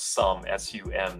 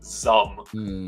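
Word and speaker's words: Xumm: by the way guys it's pronounce Su suum not not zum um anyway so when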